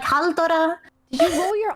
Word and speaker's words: Halldóra: Halldóra, like R, like a roller R's, like that.